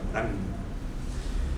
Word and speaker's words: Morin: Entonces, se escribe Morin, pero como es francés se pronuncia Morán.